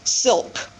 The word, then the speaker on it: silk: to be able to pronounce silk, flowers, with that final LK consonant cluster.